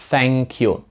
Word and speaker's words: thank you: тобі Thank you тут Зверніть увагу на вимову першого звуку Тут також є TH вона звучить Ось так Thank you Раніше вона у нас була дзвінка тепер вона глуха тобто є дві варіації